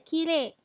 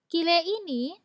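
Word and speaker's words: きれい: Dan gambar terakhir ada kire. Kire ini bukan kata sifat i, walaupun di belakangnya ada tulisan huruf i. Kire, kenapa menjadi kata sifat na? Karena lebih sering dibacanya kire, bukan kirei.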